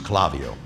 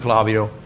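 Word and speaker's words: Klaviyo: If you have a Shopify site though, on your Shopify site, I recommend that you use Clavio.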